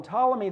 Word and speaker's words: Ptolemy: Ptolemy p tol yet the P is silent would call them Ptolemy the first and this